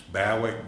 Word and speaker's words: Bowick: Spell that. It's Bowick, B-O-W-I-C-K.